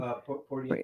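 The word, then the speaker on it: Poirier: Pier Porier.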